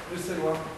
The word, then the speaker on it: Bruxellois: Bruxellois.